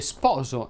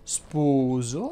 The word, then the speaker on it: sposo: Ebbene, si dice freddo e non freddo, si dice sposo e non spuso, e si dice sporco e non spurco.